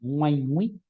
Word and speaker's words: ngi: la siguiente palabra es ngi absolutamente nasal ngi ngui como escuchan se pronuncia completamente cada letra y esta palabra tiene dos sílabas una letra nasal ya